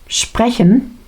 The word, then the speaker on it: sprechen: Uh, vemos la gramática repetida, la fonética un poquito repetida con esa ch con el sonido deje y vemos también que la vocal principal está en medio sprche spreche, pero es cortito.